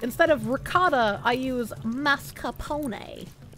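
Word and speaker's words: mascarpone: of ricotta I use mascapone I know it's pronounced mascapone but I I like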